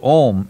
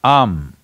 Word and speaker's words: Aum: It is not to be said as Om, it is Am.